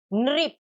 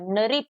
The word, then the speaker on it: नृप: की तरफ लिखते हैं, तो ये री की तरह ही प्रोनाउंस होता है। जैसे फॉर एग्जाम्पल न री प, नृप। री है न री प, नृप।